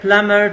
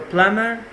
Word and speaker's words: plumber: number three call the plumber to fix the kitchen faucet so plumber be silent in the word lemon